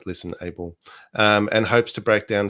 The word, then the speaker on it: ListenAble: Is this one listenable or listenable? Wow. That is the question. Yes, because the podcast is listen and able is in uppercase. So the emphasis is on able.